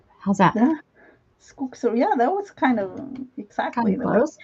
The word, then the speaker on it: skogsrå: Oh, the pronunciation of that in Swedish, Time Lord? It's skogsrå. Skotsrola. How's that? Yeah, skogsrå.